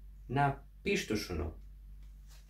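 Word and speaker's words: napištušunu: На пиштушуну. Звучит интересно. И записываем. Напиштушуну. Напиштушуну. А почему же такое ударение? Делим на слоги. Напиштушуну. Ну, краткий, нет. Шу, краткий, нет. Ту, краткий, нет. Пиш, долгий, да. Напиштушуну.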